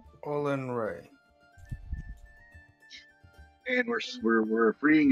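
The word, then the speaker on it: Olinray: y yep sure yes you just need to know how to say it all and Ray and we're we're we're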